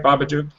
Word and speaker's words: Babadook: Am I saying it right, Babadook?